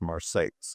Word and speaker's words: Marseilles: spelled exactly like Marseilles, France, but it's in central Illinois, so it's pronounced Marseilles.